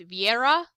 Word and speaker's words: Vera: and I love him Vera is uh cdl's sister and Myer's other daughter and her name is pronounced Vieira uh it's Russian and it means faith in Russian though it is sometimes